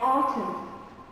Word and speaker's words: autumn: And autumn.